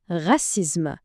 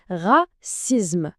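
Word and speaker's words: racisme: كاينه العنصريه اللي هي غاسيزم نعاودوا النطق غسيزم ممتاز واخر وده هنا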